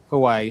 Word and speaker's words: Hawaii: So this next person, he is actually from Hawaii. How do you say it? How do you pronounce your lovely state? It's 50-50. Some people say Hawaii, some others say Hawaii.